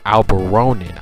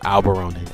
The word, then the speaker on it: Alberonen: This guy's name is actually pronounced Mr. ALBERONEN. I do say it wrong for like the next two or three videos, but I do eventually pronounce it right. I was saying it wrong at first, so I just want to let y'all know I do know it's Mr. ALBERONEN.